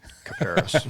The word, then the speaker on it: Kuperus: No one can uh pronounce Cooperus.